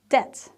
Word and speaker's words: debt: like with the plumber the b is silent so it's a debt right debt a debt